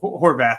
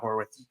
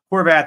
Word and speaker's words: Horvath: Anthony McFarland Jr now Horvath not horth Horvath is more of a